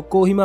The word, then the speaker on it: Kohima: अखबारों में पढ़ा होगा वैसे इसका नाम की भीम है लेकिन अंग्रेजों ने शहर को कोहिमा प्रोनाउंस किया था जो आज भी हर जगह बोला जाता है इस शहर अपनी untest